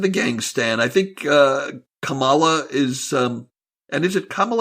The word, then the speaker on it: Kamala: gang stand I think Kamala is and is it camel or Kamala its Kamala it's it's like Pamela with a K oh thank you that's